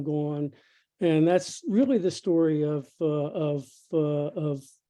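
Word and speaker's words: STQRY: of a company called story stq that's not misspelling by the way s-t-q-r-y they pronounce it story and it's a cute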